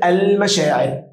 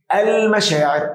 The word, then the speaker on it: المشاعر: برض نفس السؤال عندنا كلمه المشاعر المشاعر اه دي قمريه قمريه اللام نطقت بسهوله ولا يوجد شده طب اقول لك السلام